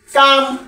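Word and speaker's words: calm: আমরা সবাই খেয়াল রাখবো যে কোনো শব্দের শেষে যদি KFM থাকে, তার আগে লেটার যদি এল হয়, তখন এল সাইলেন্ট হয়ে যায়। কাপ, হাফ, কাম, ফক, এইরকম অসংখ্য লেটার বইয়ের মধ্যে অসংখ্য লেটার লুকানো আছে।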